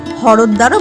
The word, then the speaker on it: হরদ্বার: হরিদ্বার স্থানীয় উচ্চারণ হরদ্বারও বটে।